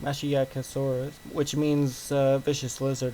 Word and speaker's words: Masiakasaurus: of facts and stuff like that so it's pronounced masiakasaurus which means uh vicious lizard apparent which is